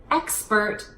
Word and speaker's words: expert: sound and here in expert it's the KS so hit both consonants kms expert expert expert a couple of things